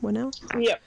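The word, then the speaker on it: Whannell: Is that how you pronounce his name? Winnell?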